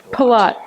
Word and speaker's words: Pilote: Am I pronouncing your name wrong? Pilote.